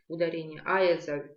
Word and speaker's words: Айазаль: На первый слог ударение. Айазаль – врач.